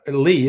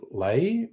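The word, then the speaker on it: Ley: be Susan Le's uh Lee, isn't it? Just Ellie Y always want to pronounce it Lei. Everyone else says it's Lee.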